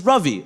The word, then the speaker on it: Ravi: My dad's is, my name is Ravi, like ravioli.